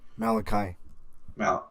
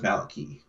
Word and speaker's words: Maliki: Malachi. No, it says Maliki. Maliki. Malachi is spelled differently.